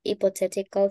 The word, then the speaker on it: hypothetical: And this one is high. como que usted diga, cuando usted dice hi, de que esté saludando, hypothetical, okay? That's the pronunciation, hypothetical. Hypothetical.